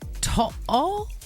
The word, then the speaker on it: To'o: Anyway, NRL star Brian To'o. Is that how you pronounce it?